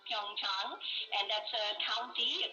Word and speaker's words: Pyeongchang: It is pronounced Pyeongchang, and that's a county, a kind of rural area in Korea, about 130 kilometers from Seoul.